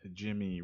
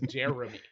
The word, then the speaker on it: Jeremy: That's with Jimmy Renner. Yeah. Jeremy. Jeremy. What did you say, Jimmy? Yeah, Jimmy Renner. You got to enunciate every syllable. It's Jeremy.